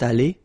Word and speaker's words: allée: Phonetically, it doesn't exist. You don't pronounce it, so you get elle est allée, and then for the masculine form, il est allé. So aller is pronounced the same way, but still you have to write it.